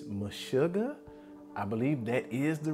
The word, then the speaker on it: Meshuggah: I believe it's MESHUGGAH. I believe that is the right pronunciation of the band's name.